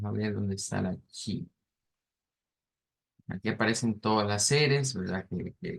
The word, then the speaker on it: chi: De acuerdo a la IPA, esa se le conoce como, no es la X, sino que se le llama chi.